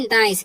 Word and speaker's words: nice: अब देखिए आगे क्या लिखा हुआ है, नाइस।